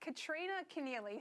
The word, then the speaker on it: Kristina Keneally: I hear that Kristina Keneally. Who is she? Is that your new co-host? Did I get your name wrong, did I?